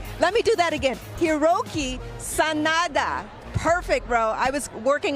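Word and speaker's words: Hiroyuki Sanada: best dressed star of the night and also hroi s Sanada let me do that again hiroi Sanada perfect bro I was working on the pronunciation but he kept it clean and Classic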